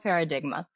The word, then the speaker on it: Paradigma: yeah, and it's Paranormal Paradigma.